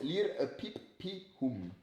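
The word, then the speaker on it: liripipium: lir pipium lire lire ça se prononce lire pipum et tu veux pas nous l'écrire. Donc c'estécrit L I R I P I P I U M.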